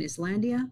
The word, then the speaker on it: Islandia: they were traced near Long Island Expressway in Islandia.